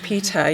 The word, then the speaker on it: Peter: Peter, yes, I pronounced the T. Okay, I know, we don't hear, well, anyway, or the R gets lost, right?